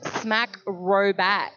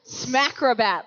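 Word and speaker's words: Smackrobat: got your name wrong so it's smack robat smack robat like a smacking acrobat acrobat yes exactly right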